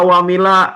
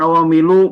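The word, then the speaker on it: عواملَ: Kenapa awamila? Bukan awamilu, bukan awamili. Karena ada amil.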